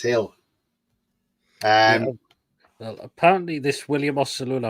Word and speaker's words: Gil: Because you don't pronounce it as Gill, you pronounce it as Hill.